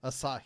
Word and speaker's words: Asahi: has been bought out by um I always pronounce this wrong somebody saporo Asahi aahi that's Asahi I thought it was saporo